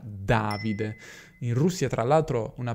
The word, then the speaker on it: Davide: Davide è una parola sdrucciola, infatti tantissimi stranieri si sbagliano e dicono "Davide". Quindi, preciso per gli stranieri che avessero qualche dubbio: il mio nome si pronuncia "Davide".